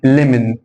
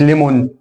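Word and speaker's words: lemon: مش هقول ليمون هنا هقول ليمن اكن الام موجوده ليمن مش ليمون ليمن ليمن هنا مش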